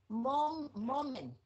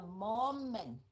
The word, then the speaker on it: moment: Anderson thấy cái chữ and Anderson chứ Anderson moment mình đọc là moment chứ không phải là moment cái chữ m